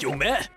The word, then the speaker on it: Yume: And isn't it pronounced Yumè in Japanese? We also said Sahsoukè back then.